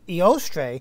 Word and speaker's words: Eostre: So, oh, okay, it's Eostre, a Germanic goddess of spring.